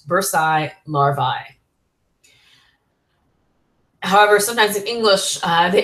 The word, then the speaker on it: larvae: And in Latin, we pronounce that ending as in long I sound. Bursae, larvae.